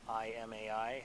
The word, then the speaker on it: Imai: bSpace 1999 eagle kit made by i'm i Imai we pronounce it this kid is one whatever we